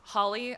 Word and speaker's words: Halley: and just for clarification the pronunciation is Holly I know blame my